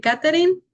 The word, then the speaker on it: Catherine: Soy Catherine, así se pronuncia.